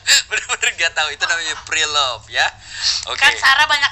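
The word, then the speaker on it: preloved: Iya, Kan itu pre-polet. menakutkan. Pre-love. Pre-love. Saya kan suka ngeliat di tag-tag Instagram orang, Pak. Iya. Tulisannya prepolet. Pre-love. Prelovet. Pre-love. Pre-love.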